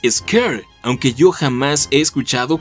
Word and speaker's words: Shere: pronunciase en algunos medios y de acuerdo con el propio kipling su correcta pronunciación es ezker aunque yo jamás he